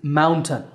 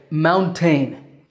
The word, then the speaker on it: mountain: next word is mountain I sometimes hear my English students say mountain but that second syllable is tongue maybe because it takes a ton of work to climb to the top of a mountain so once again the word is mountain if you do get